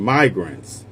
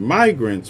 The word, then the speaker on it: migrants: Richard Lowry, not tagged here, Nacha, obviously got crossed up between immigrants, short I, and migrants, long I. Started mispronouncing migrants with the short I, instantly corrected himself with no embarrassment.